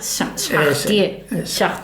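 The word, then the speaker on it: Chartier: Bueno, seguro que a ver, Roger Shahtie, que en la R final no se pronuncia en francés, pero bueno.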